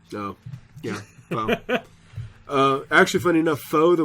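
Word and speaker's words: Fou: So it is pronounced Foe.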